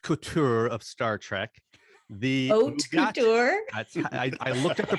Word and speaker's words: haute couture: But here to adorn me in the haute couture of Star Trek, the haute couture. I looked at the pronunciation.